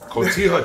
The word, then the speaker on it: Cotija: I can't pronounce the second one. I said. No, no, all I heard was juliana's coming. Cotija cheese.